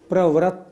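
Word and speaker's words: प्रवृत्त: बति किम निजो परिपालनम उच्चारण में एक शब्द पर जरूर ध्यान देना है प्रवृत नहीं प्रवृत नीचे रा नहीं ये ऋ की मात्रा है प्रवृत इसी तरह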